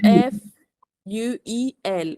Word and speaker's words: fuel: word fuel refueling Fu you have to pronounce the L at the end Fuel and it's a